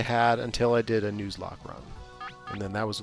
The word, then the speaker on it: Nuzlocke: requirements of nlock yeah is that how you pronounce that I think so Nuzlocke I don't like the I don't like the way the Nuzlocke sounds okay I do think it is nuz but I like news that's really yeah something more